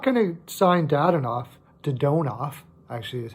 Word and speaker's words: Dadonov: Maybe they'll give him a shot, especially since if they're not going to sign Dadonov, actually is how it's said, I guess Owen Tippett's going to go.